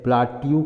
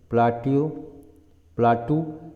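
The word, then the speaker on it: plateau: ठीक है, इसको हम लोग जो यहाँ पर ये है, यहाँ पर प्लाट्यू कहेंगे, प्लाटू एक्चुअली प्रोनाउंसिएशन है प्लाटू।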